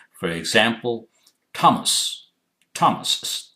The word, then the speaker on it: Thomas: For example, Thomas is T. TH is written with TH, but it's pronounced as Thomas, etc.